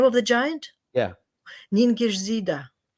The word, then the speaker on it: Ningishzida: Ningishzida. You see, I'd never said it like that. It's written completely differently. Yeah. Ningishzida. Ningishzida. Ningishzida. Right, Ningishzida. It's I think that's how Sumerians would pronounce it too.